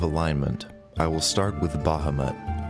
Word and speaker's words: Bahamut: I will start with Bahamut or less commonly pronounced as Bahamut the platinum dragon God